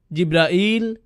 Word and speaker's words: জিব্রাইল: করেন তার নাম জিবরীল জিব্রাইল জিব্রাইল জিব্রাইল জিবরীল এই পাঁচ ভাবে তার নাম উচ্চারণ করা হয় আর এটা বিভিন্ন কিরাতের